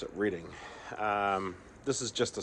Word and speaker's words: Reading: I would call it Reading cuz that's how it's spelled, but locals pronounce it Reading.